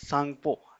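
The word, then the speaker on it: Tsangpo: सांगपो सेचर zone Indus सांगपो सांगपो में टी जो है वो साइलेंट रहता है इसलिए टी आ रहा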